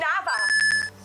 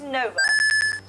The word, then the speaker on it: Nova: we have done that what if someone called me nava i pronounce everything correctly or novei no my name's nova what are you talking